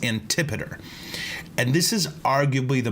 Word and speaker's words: Antipater: you look it up his name looks like it's it's spelled anti-pot tear okay but it's antipater and this is arguably